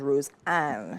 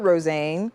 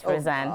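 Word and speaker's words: Rosanne: of all right earlier TI pronounced your name as Rose an and I'm like hm is that not rosan so which is it tit is right rosan oh oh God em pronounced it as rosan oh wow yes so you probably get a lot of different Roan roxan roxan so it's rosan ran wow just say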